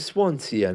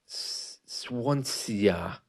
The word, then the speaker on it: Swansea: give you a longer example I'm going to Swansea next week for my holidays I'm sure it'll